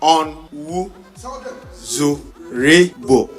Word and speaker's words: Onwuzurigbo: In Ghana, our MD CEO is the only MD whose surname has 5 syllables. You want to know the name? You want to hear the name again? Onwuzurigbo.